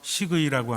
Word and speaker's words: 식의: 그래서 음식으로 치료하는 의사라고 해서 식의라고 하는데 제가 좀 발음이 잘 안 됩니다. 식의 해보세요. 식의. 다 비슷하군요. 식이가 아니라 식의.